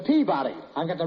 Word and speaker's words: Peabody: in Memphis at the peak buddy yeah you've got the wrong pronunciation it's the Peabody I got the right